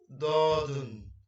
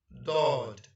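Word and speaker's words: ضاد: Let's move to the next one, and that is dodden. And the short form of dodden is dod, dod, dod.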